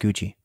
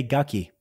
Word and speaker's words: Gucci: yeah that's why she doesn't say gucky oh okay you learn something every day adrian yeah something every day but uh yeah i thought she was just making fun of italians and how they pronounce gucky but i guess i'm